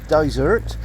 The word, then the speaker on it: Dysart: we go good boy the name daer uh is Scottish GAC which is pronounced uh desert uh meaning a Hermitage